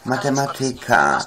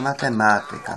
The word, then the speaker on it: matematyka: U nas nie ma matematyka, u nas nie ma polityka. Prawda? U nas nie ma biblioteka, tylko jest biblioteka, matematyka, polityka. No takie są akcenty poprawnie stawiane na trzeciej sylabie.